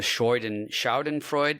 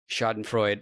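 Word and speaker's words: Schadenfreude: But um this is going to be a very I I'll luxuriate in the Schroden Shaen Freud. Someone corrected me on how I pronounce it. Mhm. Shoden Freud of it all.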